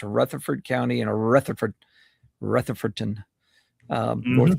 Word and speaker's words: Rutherford: If you're familiar with the name, Rutherford is how it's spelled. Yes. But if you're in Gibson County, you don't say it like that. It's got an L in it. It's Rutherford.